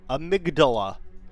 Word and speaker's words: Amygdala: All right, Amygdala, who I will pronounce Amygdala, not amygdala. Patches, you little spider freak. I will not say amygdala. Amygdala, like the part of the brain.